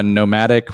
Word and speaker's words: NOMVDIC: band name is uh nomadic we spell it with a v for some reason i hate it i